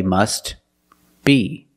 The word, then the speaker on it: must be: then you could say must be but if you link the words you pronounce it must be must be the t is silent because it's between consonants when you link the words must be link the